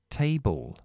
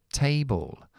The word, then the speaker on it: table: Baby est también aquí est a se tiene que pronunciar así Table Table hoy vamos a ver